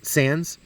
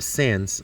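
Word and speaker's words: Sandys: profitable sir edwin sandy sands he pronounced his name sans uh the wise kind of silent is my understanding but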